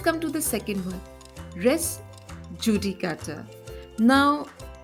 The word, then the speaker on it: res judicata: res Judy cutter now in Latin you would say res yudicata because in in many European countries when you spell J it is pronounced as yep so it becomes rest udicata rest in Latin always